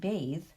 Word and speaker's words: bath: In the short vowel version of those words, it's an unvoiced TH, bath. But in the long vowel version, bathe, clothe, it becomes a voiced TH.